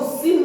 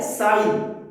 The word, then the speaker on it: sine: इसको सिन नहीं बोलते, दिस इज नॉट सिन। कभी कभी बच्चे इसको सिन बोलते हैं, प्रोनाउंसिएशन, दिस इज नॉट सिन। ये क्या है? साइन, SINE, लेकिन ई लास्ट में नहीं लिखते।